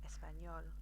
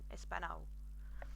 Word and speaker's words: Español: enye, the little squiggle, just imagine that you've got the N and a y, a Y sound afterwards. So Español, and that will help you remember to pronounce it Español rather than Espanol, which sounds awful, which you probably understand.